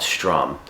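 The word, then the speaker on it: Sdrum: have a band called strum but it's spelled with a d s d r u m and we've been playing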